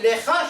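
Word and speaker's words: לְךָ: Lecha se prononce donc comme shecha, c'est une seule syllabe.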